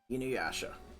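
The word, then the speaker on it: Inuyasha: Just look up I It's spelled I N U Y A S H A. You knew Yasha.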